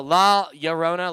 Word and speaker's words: La Llorona: in uh you pre it's the ll pronounces like the y sound kind of a little bit okay anyways that as